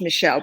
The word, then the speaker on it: Michel: who is called michelle it's a french name so that's um pronounced michelle but it's man um and um he